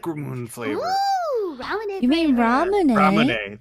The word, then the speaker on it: Ramune: ramoon flavor i like ramune flavor you mean ramen ramen that's why i meant i can't pronounce anything especially japanese stuff i always forget it's like raw moon and not just if